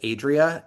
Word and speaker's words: Adria: And so I have it as Adria in my head with a long a at the beginning.